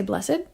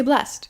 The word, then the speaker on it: blessed: word you might say blessed you might say blessed well it depends to